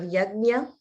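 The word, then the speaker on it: yajña: And I heard your pronunciation of yajna. That's also a very challenging sound. Nya.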